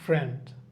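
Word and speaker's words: friend: উচ্চারণটাকে priority দিব যেমন ফ্রেন্ড ফ্রেন্ড এফ আর আই এনজি এখানে আই এর উচ্চারণটা একদমই থাকতেছে না ফ্রেন্ড ফ্রেন্ড পিস পি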